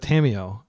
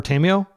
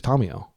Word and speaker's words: Tamiyo: And I just want to clarify that I know Americans generally pronounce it Tomio or Tamio, but like she's from the Kamigawa Plain, and they speak Japanese there, and her name is a Japanese name. So I'm going to pronounce it like a Japanese person would, which is Tomio.